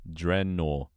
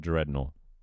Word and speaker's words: Drenor: It's called Drenor. Drenor, not Dreor. No E on the end either.